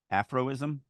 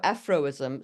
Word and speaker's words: aphorism: Afroism? Afroism, thank you. That is not how I would pronounce that word. um, Inhaling sharply at this hollow aphorism, Sarat grasped the offered hand and stood.